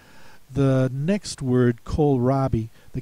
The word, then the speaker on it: kohlrabi: Make sure that you take a look at this OH spelling in here. That's very important. Spell that like the department store Kohl's. It's spelled the same way.